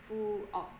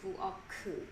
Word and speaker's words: 부엌: Notice that this ki역 is located at the end of the syllable, the final position of the syllable. It's also pronounced as 기역 sound. So it's 부엌. It's not like 부엌 or something.